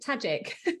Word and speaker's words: Tadzik: name it strikes me it's it's amazing magic tajic yeah love it well do you know what